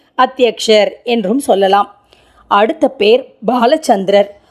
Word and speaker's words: பாலசந்திரன்: என்றும் சொல்லலாம் அடுத்த பெயர் பாலசந்திரர் உச்சரிப்பை கவனிக்க வேண்டும் பாலசந்திரா முதல் எழுத்து பால்லை இப்போது பாலசந்திரன் என்று என்ற